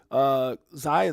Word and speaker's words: Xi: Why Xi, that's how you say it, is running out of moves.